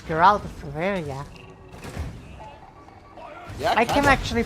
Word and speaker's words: Geralt: It's Geraltia. I can actually pronounce it correctly. It's Geralt, not Gerald. Geralt. Gerard. Gerard. No, not not Gerard.